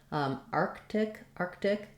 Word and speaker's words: Arctic: And then because we do have that K and that T together in the word Arctic, we do say this T sound as a T, Arctic. It doesn't have to have a lot of release of air, not Arctic with a strong T, but you also don't